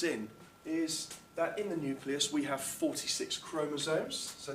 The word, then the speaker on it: nucleus: is the nucleus and it's a nucleus look not a Nuke ulis so just about the pronunciation there and what we say